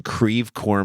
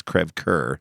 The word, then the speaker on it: Creve Coeur: dude we lived in creve coeur missouri if you study French and all that's Creve Coeur yeah but st. Louis ins called it Creve Coeur but I just remind